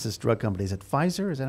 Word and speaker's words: Pfizer: Is it Pfizer? Is that how it's pronounced?